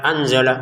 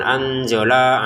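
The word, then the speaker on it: أَنْزَلَ: Untuk anzala kita baca dengan samar ya. Jangan sekedar anzala anzala lamnya langsung ke ain. Jangan anzola alaika.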